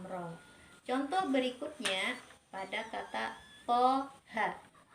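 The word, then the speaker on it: طه: Contoh berikutnya pada kata toha. To-nya kita baca 2 harokat dan ha-nya kita baca 2 harokat.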